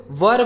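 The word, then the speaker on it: were: है तो वो लोग वर को वेयर पढ़ देते वेयर ठीक है वेयर का मतलब दूसरा होता है वर इसे हम वर पढ़ते डब्लू ई आर ई वर ठीक है तो आपको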